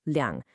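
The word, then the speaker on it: liǎng: But if you're talking about a specific quantity, like 200, you must use liang. Let's pronounce both of them slowly together.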